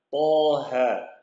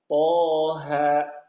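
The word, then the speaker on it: طه: yang jadi masalah bapak-bapak Biasanya kalau setelah kalau kita baca Surah Thaha ini seakan-akan ada orang yang di belakangnya nya tuh kayak ada hamzahnya ya contoh bacanya jadi mentok thha thha thha ini salah suaranya ketika membaca ha itu harus lepas plong thha thha lepas plong seperti itu berikutnya di kolom yang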